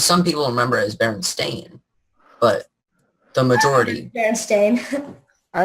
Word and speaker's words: Berenstain: In the TV show, they're pronounced Berenstain. But for some reason, a lot of people, including myself, remembered it as Berenstein.